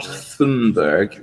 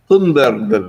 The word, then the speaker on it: Thunberg: It's feel not like she's singing. it's not Thunberg. It's Thunberg.